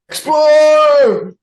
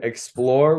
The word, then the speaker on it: Xplor: or how was that time we One Time explore yes which I don't know if we we